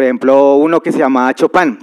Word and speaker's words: Chopin: Entonces habían grandes compositores que, por ejemplo, uno que se llamaba Chopin, se escribe Chopin, como la choricería famosa, ¿sí? Como chopinar, pero sin el ar, Chopin.